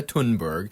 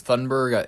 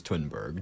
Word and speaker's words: Thunberg: In mid 2025, a climate activist, Greta Tunberg, I think it's Tunberg. I don't believe it's Thunberg because Thunberg, I think that the proper way to pronounce it from her country is Twinberg, joined a humanitarian mission